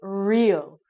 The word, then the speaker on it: Rio: City where Carnival happens in English we say Rio we sound it like an R sound not an H so we don't say